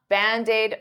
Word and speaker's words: Band-Aid: it is its its band aid is two words but to pronounce them like one I'll take that D and transfer it to the vowel bandid D bandaid bandaid